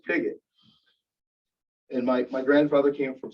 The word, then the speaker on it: Pigott: Things like, people would say things like, "Why don't you pronounce it Pichot?" Thanks for the suggestion, but it's Pigott.